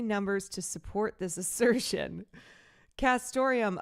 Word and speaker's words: castoreum: Castoreum, a classy, antique-sounding word jazzed up by its neat near rhyme with Santorum, like Rick Santorum, stands